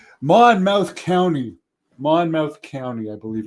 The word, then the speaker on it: Monmouth: do go to New Jersey a lot but Monmouth Monmouth County Monmouth County I believe it's pronouned pronounced he said there was six cited near